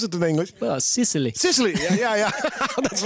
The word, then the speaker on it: Sicily: What's the right way to pronounce it in English? Well, Sicily.